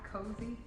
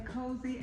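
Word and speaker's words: Cozi: in a calendar app c-o-z-i cozy i think that's how you pronounce it that's how i've been pronouncing it i put my stuff in the cozy app um i don't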